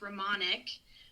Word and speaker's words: Romanick: So my last name is pronounced Ramonic, but uh it was sort of an evolution how it came to be.